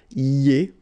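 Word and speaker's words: iez: Then for vous, it goes like I-E-Z, and it goes like ye, okay? Remember when you get this I before, it goes like ye, ye, ye, okay? Ye.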